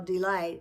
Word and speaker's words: delight: how do I spell delight? And you say D-E-L-I-G-H-T. I-G-H sounds like a long I letter.